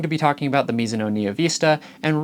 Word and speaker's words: Mizuno: now we're going to be talking about the misoo Vista and right off the bat I do